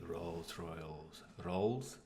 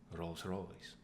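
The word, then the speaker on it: Rolls-Royce: AbdulHike.11, I probably pronounced that wrong, sorry. What is your favorite car? We like cars. It's gonna be Rolls Royals. Rolls Phantom. Try that again. Rolls Royce.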